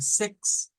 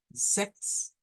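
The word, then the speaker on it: sechs: Luego habíamos dicho que el número 6 en alemán se pronuncia Sex. Sex, con una Z, Sex, una K.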